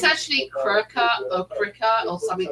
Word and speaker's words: Cricut: Well, it's actually Cricut or something like that. Oh, It's spelled CIRCUT.